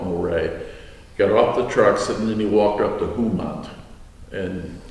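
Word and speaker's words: Mohret: And you guys came into the city of Moray, M-O-H-R-E-T, not pronouncing it correctly, but I call it Moray.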